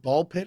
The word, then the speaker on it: Ball x Pit: Is it called Is it called Ball Pit or something? It's called Ball X Pit, but I think you just pronounce it ball pit.